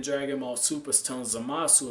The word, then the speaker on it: Zamasu: Ball Super, is telling Zamasu, or Zamas, as he's going to be called. That's the proper way to say his name, Zamas.